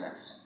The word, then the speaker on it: ব্যবসা: ব্যথা ব্যথা, ব্যবসা ব্যবসা। তাহলে 1 নম্বর নিয়ম কি হচ্ছে? আদ্যবর্ণে জফলা যুক্ত হলে জফলা যুক্ত ব্যঞ্জনটি একারান্ত উচ্চারণ হবে।